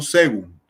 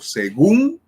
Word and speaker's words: según: Si yo tengo la palabra según, yo no digo según, no digo clasificación de las palabras según su acento, no, digo según su acento.